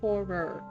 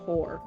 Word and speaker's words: horror: It's horror. Horror. But some people are saying whore. That I'm saying.